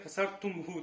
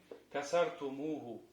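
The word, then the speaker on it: كَسَرْتُمُوهُ: Как мы говорим? Касартумуху. Касартумуху.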